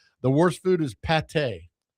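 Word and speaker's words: pâté: you You thought I said pad tie? Yeah. Pad tie is fantastic. what are you talking about? Pate, p a t e.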